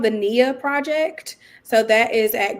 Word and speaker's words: NIA: So it's called the NIA Project. So that is at Grady Health. How do you spell that? And like NIA, like the Swahili word for purpose.